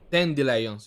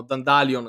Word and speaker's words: dandelions: Dandelions. Io li chiamo Dandalion, che è sbagliatissimo.